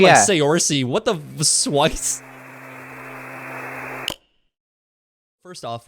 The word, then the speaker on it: Saoirse: What are some of the funniest pronunciations you've ever heard of your name? Has it like Okay. Um, Swice is one. what? I was Oh thinking like yeah. Saoirse.